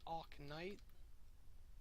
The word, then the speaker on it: Oknytt: It's Oknytt. Yeah, it's Oknytt. I've been saying it wrong again.